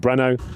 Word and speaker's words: Breno: name is Breno, and all the Brazilians call him Breno. Okay. They asked, and they said, yeah, just call him Breno.